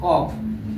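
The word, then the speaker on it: calf: दूसरा यब से पहले आया यल हमेशा साइलेंट होता है, यब से पहले आया यल हमेशा साइलेंट होता है। जैसे सी ए यल यप, इसको यल साइलेंट है, इसको क्या पढ़ेंगे कॉफ पढ़ेंगे, कॉफ।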